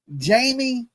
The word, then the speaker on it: Janie: JANIE, that's how you say it, JANIE.